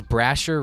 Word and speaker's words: Brazier: Is it like, He says Brasher rhymes with Frasier, like the TV show.